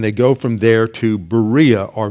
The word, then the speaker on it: Berea: go from there to Berea or Veria as it's pronounced in Greek very and there again